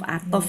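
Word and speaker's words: عطف: Bacanya huruf atof ya.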